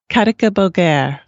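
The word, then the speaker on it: katicabogár: for ladybug it is spelled uh and it's pronounced karaka bulgar okay more specifically thank you the seven speckled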